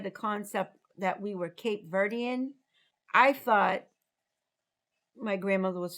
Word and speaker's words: Cape Verde: Whether you pronounce it Cape Verde or Cape Verde, Oh, Cape Verde, Cape Verde, it's Cape Verde. because in Creole, you leave off the last vowel, right?